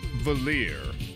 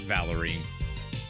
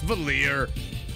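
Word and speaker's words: Valere: her name is pronounced valir not Valerie but I'm gonna I'm gonna pretend anyways that that her name is valid no okay fine it's valir I don't know that's a French ass name valir maybe that's live Mana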